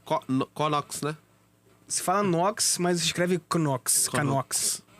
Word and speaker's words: Knox: Se fala Knox, mas se escreve Knox.